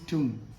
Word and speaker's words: tomb: So we can use this word in a sentence like this: the tomb of Sher Shah is located at Sasaram in Bihar.